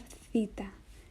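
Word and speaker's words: Θήτα: it then we have Theta Theta Theta is like the th H sound and the word thank you like thanks th Theta th th then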